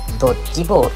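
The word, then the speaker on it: 避球: 正解はドッジボール。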